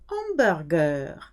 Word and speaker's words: hamburger: Hamburger, foreign word, starts with a aspirated H, which means you cannot say gros hamburger. You have to have a little pause between gros and hamburger.